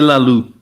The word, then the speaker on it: Laloux: René Laloux. Yeah. The X is silent.